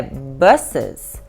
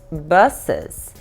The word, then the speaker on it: buses: Vamos ver aqui, o plural de bus é buses. Bus, buses. Bem relaxadinha a boca, viu? Bus, buses. E o S-E não é buses, não. O E quase que não pronuncia, como se fosse um S atropeladinho, assim, sabe?